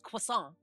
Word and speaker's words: croissant: Yeah, you got to get rid of the T at the end because it's croissant. If you actually pronounce it properly.